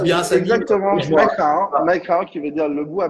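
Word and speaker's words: Mai Khao: C'est ça, je le prononce bien. Exactement, Macao, qui veut dire le bois blanc.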